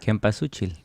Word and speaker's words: Cempasúchil: pronounce this flower? Cempasúchil.